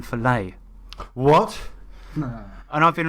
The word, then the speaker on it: Follett: learned that Ken Follett his name isn't pronounced Ken Follett it's Ken filet what no and I've